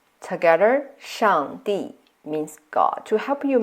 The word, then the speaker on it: 上帝: So here, 上, we use the fourth tone, which have this motion, a sharp falling tone, like when you give a command. 帝 use the fourth tone too.